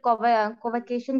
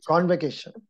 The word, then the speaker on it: convocation: that is also called cover uh vacation results maybe i am pronouncing wrong sir please correct me yeah the pattern pattern convention result part the pronunciation is convocation one candidate posted a